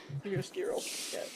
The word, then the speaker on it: chiaroscuro: How do you pronounce that? Chiaroscuro effect? Yeah, you're right. Chiaroscuro.